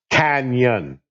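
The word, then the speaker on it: cañon: But that word, just incidentally, is pronounced canyon.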